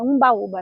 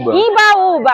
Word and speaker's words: Imbaúba: Mirante procurar a árvore Imbaúba é a pronúncia Imbaúba é uma árvore quem localizar tá é é Imbaúba Imbaúba É porque eu fico Umbaúba Imbaúba mas é é eu